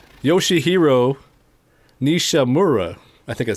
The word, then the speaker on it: Nishimura: Yoshihiro Mishimura. Yoshihiro Nishimura. Mishimura. Okay. So. Don't ask me to pronounce anybody else's name.